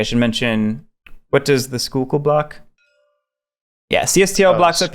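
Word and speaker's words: Schuylkill: So the Skookle, not the Skykill, the Skookle, is just a blocker. Freddy's saying that's the right way to say it.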